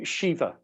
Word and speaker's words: Shiva: Okay, and do you say Shiva or Shiva? Oh, Shiva. Shiva. But if you pronounce it Shiva, that's okay, because this is an international reading. I know. We have our different ways.